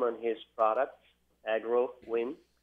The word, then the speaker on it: AgroWin: So agro, as from agronomic, and win, like a winner, So we call it an agronomical winner. There you go. Agro win.